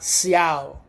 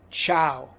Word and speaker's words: ciao: The letter C is chi. Ciao. It's not ciao. It's ciao. The letter D.